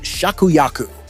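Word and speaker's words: 芍薬: And in Japanese, peony is pronounced shakuyaku.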